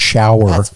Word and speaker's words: shower: So I try to say the word shower because it is 2 syllables.